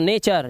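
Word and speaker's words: nature: आर ई आता है, या टी के बाद आपका यू आर और ई टी के बाद दिखाई दे जाए तो टी का जो उच्चारण होता है ना वो चा हो जाता है। क्या हो जाता है, चा। तो नेचर, ये फटूरे नहीं है, ये फ्यूचर हो गया।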